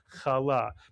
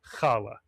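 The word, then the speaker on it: חלה: In sphartic Hebrew, the accent would be on the second syllable. Kala. Many people say kala.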